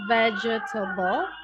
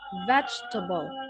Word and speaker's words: vegetable: So it looks like it has four syllable but actually it just have three syllable which is veg. So so it's not veger. Yeah. So it's not vegetable but vegetable. Vegetable. Okay. So it's just has three syllable not four syllable.